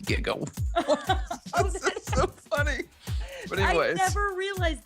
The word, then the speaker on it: giga: hilarious that no one in 1985 knew that jiga is actually pronounced Giga so funny I never realized that that is